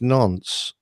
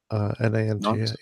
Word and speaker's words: Nantes: Oh, and I think it's Nantes, Nantes. Okay. Is that in France? Yes, but I'm no expert on French pronunciation.